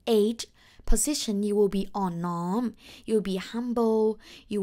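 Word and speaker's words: อ่อนน้อม: come to the fourth value this one is on norm tom ton oh my god so long well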